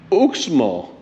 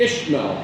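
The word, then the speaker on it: Izamal: for two nights and now we're off to ooksmall no ishmael no no it's yellow city we are off to ishmael now i have just been corrected as usual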